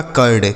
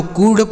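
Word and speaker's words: curd: तो सी से हो गया का, यू का उच्चारण आ, आर से र और डी से ड। यह लिखा आपका कर्ड। क्या लिखा है, कर्ड। इसे ना तो कूड पढ़ेंगे ना तो कुछ नहीं पढ़ा जाएगा, इसे आपको कर्ड पढ़ना है।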